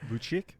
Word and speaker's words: Vučić: Vučić?